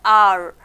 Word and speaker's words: hour: But when we speak or when we pronounce, how do you listen? It's a sound. A-U-E-R sound is there, hour.